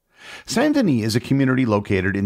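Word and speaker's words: Saint-Denis: and for the record I will be using the French pronunciation of sandini for the rest of the episode not the English St Dennis sandan is a community located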